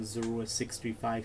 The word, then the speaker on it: Zorua635: Because one reason I would like to change it is because every time I do my intros like Zorua, like, hey everyone, Zorua635 here.